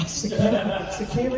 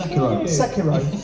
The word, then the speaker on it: Sekiro: And So how did you pronounce that? Sekiru, is it? Sekiro.